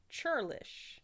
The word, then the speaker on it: churlish: my word was churlish. And it's Churlish. an adjective. Churlish. Churlish. Churlish. Churlish. Like churros. Churlish.